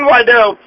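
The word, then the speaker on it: Guaidó: u a i don't y the g is pronounced y g that's stupid so juan wado he says that the 2018 elections were illegally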